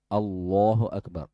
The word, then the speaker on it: Allahu Akbar: Terkadang juga takbirnya ya takbirnya kan lafaznya itu Allahu Akbar. A ada alif lam Allahu tapi terkadang Allah u. Allah ya. Allah Allahu Akbar sampai alif lam Allah. Nah. Padahal itu lafaz pembesaran terhadap Allah Subhanahu wa taala. Nama Allah saja tidak lengkap dibaca.